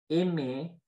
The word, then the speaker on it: aimer: One of those sounds is E, fermé, so the closed E, right? Par exemple, on a beauté, aimer, né. So beauty, beauté. Look, pay attention to my mouth. I pull my lips back and my mouth, it's not too open, right?